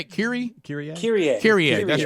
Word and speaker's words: Kyrie: Kyrie.